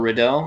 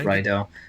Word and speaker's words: Riddell: Next up, we have a welterweight bout between Kiwi fighter Brad Rydell or Riddell. I always forget how you say it. I think it's Rydell.